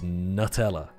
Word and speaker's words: Nutella: It's very clearly nut and it has nuts in it. It's Nutella.